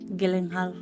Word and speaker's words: Gyllenhaal: Sur so I stop blaming drugs I nothing Gilling Hall is it is it Jack Goan Hall yeah